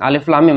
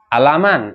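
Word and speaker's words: الم: tahu bacaan itu asing Alif Lam Mim mereka ketika ada tulisan Alif Lam Mim mereka baca alaman alamun ya ilmun ulumun atau apa ya tapi Nabi Muhammad wasallam Bacanya apa Alif lam mim gitu asing bagi mereka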